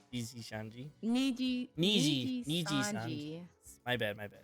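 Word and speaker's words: Nijisanji: Like definitely VG Shanji, VG Shanji, Niji Niji Sanji.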